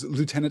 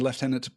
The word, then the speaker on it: lieutenant: The reason, by the way, that there's an alternate pronunciation there is that before it came into American English, the spelling had shifted, so it is spelled lieutenant, so pronouncing it lieutenant makes a lot of sense. But originally, when it came from the Old French, the U was not a U, it was a V.